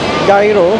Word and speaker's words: gyro: Gyro or gyro, depende kung saan ka galing, kung anong bigkas mo.